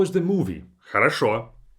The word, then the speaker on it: хорошо: For example, хорошо. The very last o is stressed, that's why the last o is pronounced as o. Хорошо. But the first 2 o's are unstressed, and I say them as хорошо.